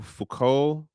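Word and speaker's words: Foucault: Then there's a philosopher dude named Michelle Fuko. His name is French. It it just the letters don't do anything for how it just is pronounced.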